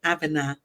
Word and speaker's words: Abena: My African name is Abena. Okay. Right. Well, maybe I'm pronouncing it. It's Abena. Tuesday, right, Michelle? Tuesday, yeah. Yeah. So you said it better. Michelle. You said it. I said it the American way.